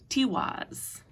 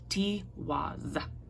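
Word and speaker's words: Tiwaz: And our last card, guys, is my absolute favorite card, Tiwas. And the easiest way to pronounce this one is if you break it up into T, like T-E-A, T, which is my favorite thing of all times, and then was, T-was, okay?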